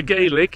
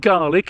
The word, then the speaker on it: Gaelic: uh the garlic the gaelic isn't it called garlic isn't that the actual pronunciation i don't know everybody